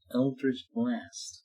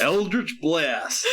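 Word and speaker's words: Eldritch Blast: sa yeah so I am going to cast Elder's black that properly please eldrich blast thank you no excuse me it's eldrich blast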